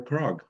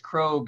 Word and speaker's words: Krog: We'll turn it over to His Worship Mayor Krog. Good morning, everyone. And thank you very much for this, Terry. I hate to correct you, but it's Krog. It rhymes with vogue or rogue. It's a long O.